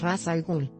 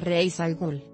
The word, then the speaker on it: Ras al Ghul: mx ras al ghul este enemigo de batman tiene un nombre bastante tramposo pues sus dos creadores lo pronuncian de forma diferente ni la dan dice que es raza algún mientras que the new ley sostiene que es rise algún así que ambas son correctas imagen de ese